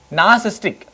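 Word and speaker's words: narcissistic: आप क्या बोलते हैं, नार्सिस्टिक, क्या बोलते हैं उसको आप, नार्सिस्टिक, नार्सिस्टिक, थोड़ा सा आर साइलेंट रहता है, नार्सिस्टिक, एक ऐसा पर्सन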